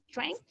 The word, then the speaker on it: strength: And in the second paragraph, the first line, we said, Watica is life, it's water, it's forest, is strength or stretch? Strength. Strength. Strength, Strength. You strength. don't pronounce like a at the beginning, just the sound of the strength.